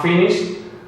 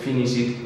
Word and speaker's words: finished: Examples, I'm not going to have finished this test by 3 o'clock. Finished. Ok, nada de finish it y cosas raras. Si no es TOD, no se añade otra sílaba.